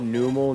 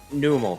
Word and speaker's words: Numel: She called numal numel. Yeah. Numel and it's like numl like a camel.